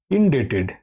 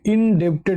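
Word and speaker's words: indebted: আর ইনডেটেড টু দেখো ডেপড বলবে না এই বিটা এর উচ্চারণটা সাইলেন্ট থাকে ডেট হয় কেমন ডি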